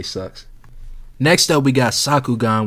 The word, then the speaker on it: Sakugan: Next up, we got Sakugan, which rhymes with Bakuman, which rhymes with Bakugan, which is nothing but a Gurren Lagann ripoff.